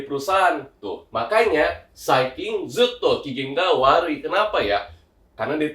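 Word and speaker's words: 機嫌: Cara bacanya adalah kigeng ya.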